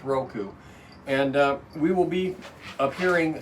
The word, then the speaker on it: Roku: I think I've been hearing it correctly said so many times, I'm actually saying it the right way, so it's Roku.